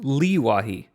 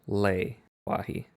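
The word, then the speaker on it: Le-Wahi: So, moving on to Leewahi, which uh I thought was a nice segue because the most recent I'm going to call it Lee Wahi, but it is pronounced Lei Wahi.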